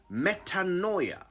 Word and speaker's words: metanoia: here's a word you've probably never used before metanoia i'll spell it m e t a n o i a metanoia it's a noun and it means a